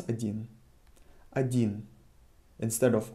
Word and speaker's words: один: hear how I pronounce Adin Adin instead of O I'm pronouncing a Ain there is a rule for this if o is uh not emphasized in a word we pronounce it as a it is the simplified